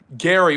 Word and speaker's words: Gerry: Jerry Garary was how you pronounced his name and he want as